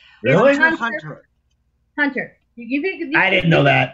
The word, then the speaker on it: Hunter x Hunter: The X is silent. Really? Hunter. Hunter.